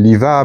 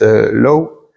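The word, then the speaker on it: Loew: Alors, on l'appelle Liva, mais on on le prononce Low.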